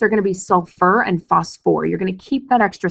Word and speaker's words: phosphoric: not suffolk acid and h3po4 is going to be phosphoric acid not Bostic acid when we're talking about